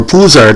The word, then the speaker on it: Pouzar: Now, Jaroslav Pouzar, or Pouzar, depending on pronunciation, one of the best left wingers ever in Czechoslovakian history.